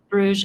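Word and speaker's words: Bruges: How do you pronounce it again? Bruge. It's in Brussels. Bruge.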